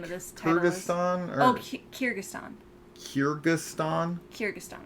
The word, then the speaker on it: Kyrgyzstan: It's Kyrgyzstan.